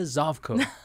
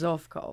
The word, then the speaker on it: Zovko: who you are zavco am I pronouncing that right yes Yes actually in Croatian it's zofko oh watch out yeah